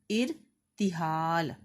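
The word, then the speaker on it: اِرْتِحَال: کیجیے۔ پہلا ہے ارتحال، الف کے نیچے زیر آئے گی، رے کے اوپر جزم اور تے کے نیچے زیر، ہے کے اوپر زبر، ارتحال۔ اگلا لفظ ہے شعار،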